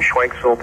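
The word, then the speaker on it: Schwenksville: Thomas, pronounce it. I'm calling from Schwanksville, Pennsylvania.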